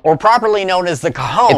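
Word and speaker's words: cajón: The box drum, or properly known as the Cajon, it's pronounced cajone.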